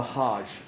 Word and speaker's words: hajj: what this pilgrimage is called it's called the hajj h-a-j-j okay and this is something that every